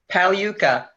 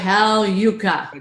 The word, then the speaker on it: Pagliuca: last name for me pal yucca paulo yucca right Hal yucca G is silent yep Hal yucca that